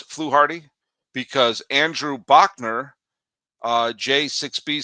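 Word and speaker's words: Fluharty: And then uh Miles Shells 359 says his name is pronounced fluarty. Yep. Okay, got it. Thank you so much. And then Conehead Jill says it's pronounced fluarty. I got it. I mispronounced it.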